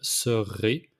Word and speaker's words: serai: Pour les règles de conjugaison au futur, it's je serai. So another time, it's very important to roll the R for the future. So je serai, tu seras, il sera, nous serons, vous serez, ils seront.